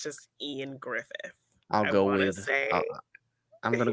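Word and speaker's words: Ioan Gruffudd: i is it ian it's spelled very differently but i think it's just ian griffith even though it looks like even though it looks like iowan grufford i think it's just ian griffith i'll go with i'm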